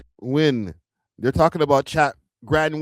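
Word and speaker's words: Nguyen: N G N G U N W Win.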